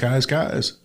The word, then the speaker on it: Keyes: But the most important thing to know is it's spelled Keys, Keyes, but it's Kai's. Shout it to the skies.